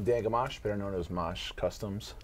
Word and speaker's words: Mache: Amash better known as mush customs that's how you pronounce it much like a mosh pit okay what's the worst